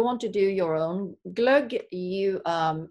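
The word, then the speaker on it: glögg: Swedish holiday drink that I I might butcher the pronunciation so you'll have to correct me but glug right yeah it's glug so glug is it's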